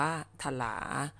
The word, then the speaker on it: ถลา: แล้ว นก บิน ถลา ถลา เขียน ว่า ถ้า ลา อ่าน ว่า ถลา อ่า นก บิน ถลา